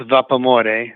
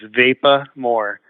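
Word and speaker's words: Vapamore: the how do I spell that well it's pronounced vapormore which is the love of steam in Italian and so if you say it in English like how the word looks it's vapa more so v-a-p-a-m-o-r-e so vapa more I was I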